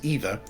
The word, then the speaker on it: ether: You'd pronounce it either.